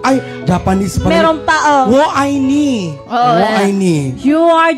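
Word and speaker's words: 我爱你: Wo ai ni. Wo ai ni. Iba-iba na sinasabi nyo dito ah. Pero ang pronunciation niya ganito, Berna. Ang pronunciation niya, wo ai ni.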